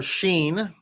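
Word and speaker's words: שין: Page 43, and inside the box, we have the letter Sheen. That letter Sheen, when the dot is to the right, it spells the word, or not spells the word, excuse me. It has the sound sh, Sheen.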